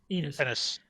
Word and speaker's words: Ennis: Did you say Enos? Garth Ennis. Ennis. I can never remember how to say his last name, but his writing for me leaves something to be desired.